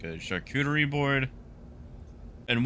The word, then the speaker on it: charcuterie: those things like a charcuterie board and one day someone had horrendously mispronounced the word charcuterie is sharkuchi and I had no idea that that was not the way you say that until about two weeks